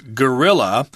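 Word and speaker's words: guerrilla: since we're speaking English we would pronounce this word as gorilla which sounds exactly like the word for the ape that I just talked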